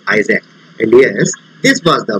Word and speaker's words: IASC: astronomical search collaboration iasp which is pronounced as isaac and yes this was